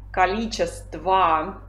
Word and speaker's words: количество: Visto che finisce con la o alla forma di partenza, si pronuncia sempre количество, ma sappiamo che si scrive con la o finale.